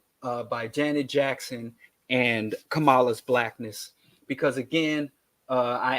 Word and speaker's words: Kamala: evidence of so people are making accusations against kamama Kamala right sorry y'all get mad when I mispronounce her name I don't know why but